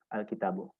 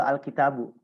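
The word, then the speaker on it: الكتابُ: depannya ada alif lam maka dibacanya itu alkitabu kenapa karena rumusnya itu setiap Isim Jika Bertemu alif lam di depannya maka harakat baknya itu pasti Boma Jik Isim bertemu alif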